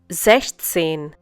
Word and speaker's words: sechzehn: Sechzehn. Once again, 16. Well, in this case, you do bring 6 and 10 together, but 6 is used without S.